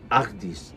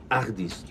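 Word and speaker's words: Agdz: seguimos la ruta y llegamos a agis que se escribe ag dz agis se pronuncia Y por qué me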